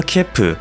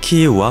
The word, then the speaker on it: 키이우: 가장 가깝게 맞춘 것입니다 우크라이나 대사관 측에서 제시한 크이유라는 단어에서 크는 사실 한국의 의보다는 이에 가깝단거죠 그러니 앞으로의 영상에서도 우크라이나 수도는 키우로 일컫도록 하겠습니다 그럼 본격적인 소식 들어가겠습니다